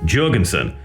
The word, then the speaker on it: Jourgensen: I will quickly say I know Al pronounces his surname with a hard J, Jurgensson. However, I've been living in Scandinavia for a few years and most J's are soft. And given this is a Nordic surname by nature, I'm probably going to out of habit pronounce his name with a soft J as Jurgensson, so forgive me.